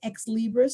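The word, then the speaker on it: Xlibris: it from the publisher which is x libris spelled with an x x x l i b r i you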